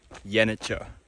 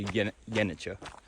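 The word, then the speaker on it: Yenice: into the town of Yanicher. I looked it up. I think it's pronounced Yaniche. CE, it should be like a Yeah, but the C is a J sound. So, Yeniche.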